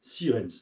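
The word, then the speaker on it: Sierentz: 510 sirenes dans sirenes il y a un piège c'est presque comme ça se prononce sauf que c'est s i e r T e n Z donc sien apr on dit Siren mais c'est un Z ça la magie de la langue française moi je t'écriraai pas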